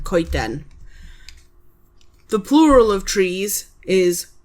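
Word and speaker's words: coeden: Ken.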